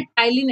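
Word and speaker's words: ptyalin: तो बच्चा P silent होता है, इसको टाइलिन एंजाइम के नाम से बोलते हैं।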